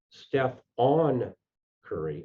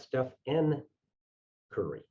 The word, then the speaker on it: Stephen Curry: developed was that they misspelled his name and mispronounced it steph on curry not steph n curry like steve urkel's alter ego in family matters